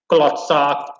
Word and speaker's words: klootzak: Klootzak, no, that's not how it's pronounced. It's pronounced klootzak.